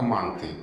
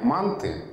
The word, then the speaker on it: манты: Есть словари, в которых только манты.